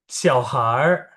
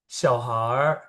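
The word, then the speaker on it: 小孩儿: Cara bacanya gimana nih? Kalau ada R, R, R kayak gini. Aku praktekin dulu ya. Yang pertama itu 小孩儿、小孩儿、小鸟儿、饭馆儿、香水儿 gitu. 小孩儿、小鸟儿、饭馆儿、香水儿. Ya, itu kalau ada R. Kok gitu amat sih bacanya? Ini adalah cara ngomongnya orang utara.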